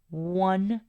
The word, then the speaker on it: one: miramos como una vocal Pero cómo realmente suena esa o en este caso suena como una W Así es que tenemos ahí el sonido de consonante en este caso la W para decir One es por eso que